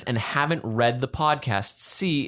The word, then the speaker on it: See: haven't read the podcast, C is spelled like you see, not C like the letter.